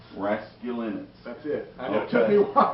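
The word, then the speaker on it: Raskulinecz: get on board I'll never be able to pronounce Nick's last name rasc Linus rasc Linus that's it took me while yeah It's Tricky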